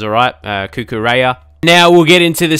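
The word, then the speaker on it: Cucurella: pronounce his name and it's cuckoo Raya or something like that without the Spanish accent obviously I don't have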